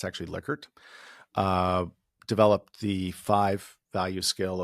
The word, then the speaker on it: Likert: Rensis Likert, it often gets pronounced Likert, but it's actually Likert, uh, developed the 5-value scale of strongly agree down to strongly disagree.